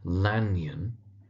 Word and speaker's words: Lanyon: So it's Jekyll, emphasis on the Jeck part, the first syllable, Henry Jekyll. We have Hasty Lanyon, commonly known as Lanyon in the text, so Lanyon.